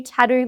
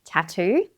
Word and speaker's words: tattoo: Even though this word is spelt with two T's, we only pronounce one. Again, we have the A sound that's in hat, the short A, T, and the long U sound that's in true.